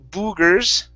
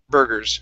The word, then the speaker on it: burgers: big one okay so the u r and the e r make the same sound in this word so instead of saying boogers it's bur gurus burgers try that burgers good